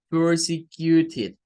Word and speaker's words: persecuted: Es una palabra de 4 syllables. Tiene 4 sílabas. La primera sílaba, ¿verdad? Comienza en la P-E-R, aquí, con el sonido que es típico de palabras como bird o de palabras como girl, en donde se une